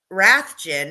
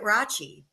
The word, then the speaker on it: Rathjen: you guys pronounced it Rachie. And we did. We did because that's technically how you're supposed to pronounce it. You know, it's a German last name, but you guys in Cedar Rapids always pronounce it as Rathjen.